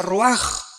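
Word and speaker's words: רוח: Se pronuncia roaj.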